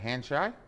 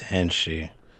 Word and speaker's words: Henshi: is that Hanshai? I don't know how to pronounce that, brother. Come off mute. It's Henshi.